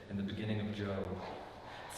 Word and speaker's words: Job: Looks like Job, but it's pronounced Job.